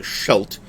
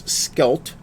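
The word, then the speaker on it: Schelde: So I spent the entire episode 0, the first setup, pronouncing the river as the Scheldt. I am told, with good authority, that it is Skelt, because it's Dutch and not German.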